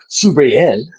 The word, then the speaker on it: Subriel: I can't roll a R. Subriel. I can't do Yes, that. Subriel.